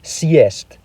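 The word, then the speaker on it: съесть: forced to respect its hardness and use the pronunciation beginning with y. For example, let's look at the word siest, meaning to eat up.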